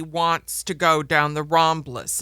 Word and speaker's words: Ramblas: Barcelona and everybody wants to go down the ramblas it's pronounced ramblas R MBL l and it's a long stretch